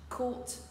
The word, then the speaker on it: caught: On retrouve ici la même prononciation, bien que l'orthographe diffère. Ici, nous avons affaire à la séquence de lettres suivante. A-U-G-H-T. Par contre, la prononciation se fera de la manière suivante. Caught.